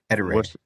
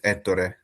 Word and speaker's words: Ettore: Ettore. What's the correct one? Well, I would say that one's pretty much correct for English, but in Italian it's Ettore.